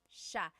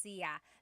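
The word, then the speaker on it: siya: It's sha sha. The si y combination makes that sha sound. It looks like it should be pronounced seia. There are some regions in the Philippines, I believe, that say, but usually in the central Luzon area, it's pronounced sha.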